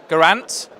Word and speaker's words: Geraint: Geraint? No, like pint. Pints like with, yeah. That's it. Geraint's like a pint.